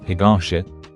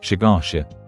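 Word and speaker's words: 東: For example, words like higashi, kohi, or hyakuin might be pronounced as shigashi, koshi, and shakuin.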